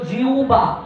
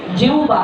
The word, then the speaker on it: জিহ্বা: নেই জিহ্বা এটা কি ব্যাকরণগত দিক থেকে সঠিক উচ্চারণ হলো জিউবা উচ্চারণটা কি জিউবা কিন্তু আমরা অঞ্চলগতভাবে এটাকে